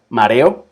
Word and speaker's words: mareo: Mareo, mareo, que uno no dice mareo. Sí, mareo es otra palabra, pero el mareo, mareo, son tres sílabas.